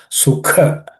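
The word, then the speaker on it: सुख: Sukha, the ka is second letter, aspirated.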